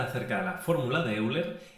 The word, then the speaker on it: Euler: El número que os queremos presentar es el número de Euler, o más bien pronunciado Euler, también conocido como el número E, y es uno de los números más importantes en matemáticas.